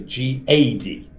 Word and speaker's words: Gad: His name is G-A-D. Gad. Right? But in Ashkenazi pronunciation, it's God because it's comments.